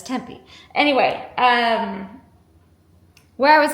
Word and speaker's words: Tempe: I did ask a local how to say tempe. It's temp. Some she said some people say Tempe and some people say Tempe, but it's Tempe.